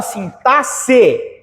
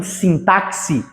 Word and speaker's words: sintaxe: de estudo a palavra sintasse esse X tem som d s esse X tem som d s então é sint e não sintaxe vocês erraram a contagem